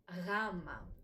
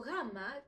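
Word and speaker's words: γάμμα: Greeks, try to connect it with the letter G, but it doesn't produce the sound G. So gamma can be described as a very soft G.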